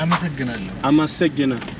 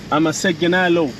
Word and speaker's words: አመሰግናለሁ: አመሰግናለሁ. አመሰግናለሁ.